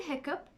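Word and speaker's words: hiccough: The word hiccup is the only word where GH is pronounced as P.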